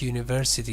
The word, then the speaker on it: university: opposite, actually, the same is true about university. University starts with U, Yeah. but it is not U, it is Ye.